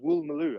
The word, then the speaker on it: Woolloomooloo: No, Doman learned all his English at the University College of Woolloomooloo. Great monkey. Woolloomooloo, the Australian one? Woolloomooloo? And actually, it's pronounced Woolmaloo.